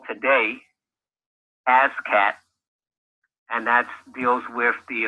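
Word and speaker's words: ASCAC: It's pronounced ASCAT.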